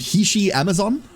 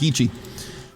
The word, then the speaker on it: Hishi Amazon: Um, there is an Uma named Hishi Amazon, and I consistently mistakenly pronounce her as Heii.